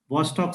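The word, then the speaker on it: Chvostek: How you pronounce it is CHVOST. Vostok sign. I call it Vostok sign.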